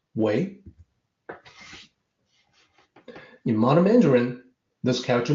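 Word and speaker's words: 微: This character is pronounced Wei.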